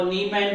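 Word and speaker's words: 你们: तो यू का जो चाइनीज में अल्टरनेटिव है वो नी मैन है नी मैन है नी मैन नी मैन नी मैन नी मैन, इसे प्रोनाउंस करेंगे नी मैन नी मैन नी मैन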